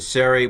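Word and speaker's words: צֵירֵי: an i we have the serie which is a long e we have the cigo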